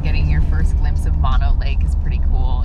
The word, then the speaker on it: Mono Lake: lake are open and they are free actually pronounced mono lake this ancient lake formed roughly 760 000 years